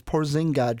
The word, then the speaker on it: Porzingis: But you said his name wrong again. It's Porzingis, Sean. One of these days you'll get it right.